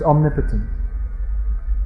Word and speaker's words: omnipotent: and omniscient omnipresent and omnipotent is pronounced omnipotent all-powerful yeah so we